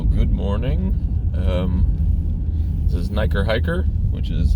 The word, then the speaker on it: NiKerrHiKerr: morning um this is niker hiker which is how you say that i've had people asking um how to pronounce it it's basically hiker and then niker which rhymes it's kind of a